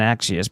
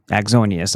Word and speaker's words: Axonius: How Israel Intel linked and Axius penetrated 70 US Oh. They like to penetrate. Why is this not opening? How Israeli linked A- Inaxius Axonius, I always say it wrong.